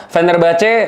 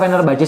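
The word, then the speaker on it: Fenerbahçe: Sancho yang kemarin Venner Bace mau venner bah apa? Venner Baje sih bacanya. Fenerbah.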